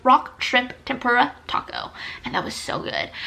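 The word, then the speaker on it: Tako: Next, we have Taco, which is also located in downtown Pittsburgh. Taco is spelled T-A-K-O, but it does serve tacos, T-A-C-O.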